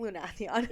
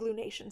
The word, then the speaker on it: Lunathion: Lunathion. Yeah, I'll never say it right. Never. I think Lunation sounds better, but Lunathion.